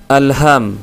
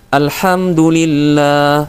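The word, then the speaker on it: الحمد لله: Ha yang harusnya tipis dibaca dengan ha tebal, teman-teman. Jadi ada yang membacanya seperti ini. Alham, ya. Alhamdulillah, yang semestinya adalah alhamdulillah.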